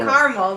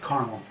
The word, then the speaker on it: caramel: how do you pronounce I say caramel but it's with two syllables caramel or three syllables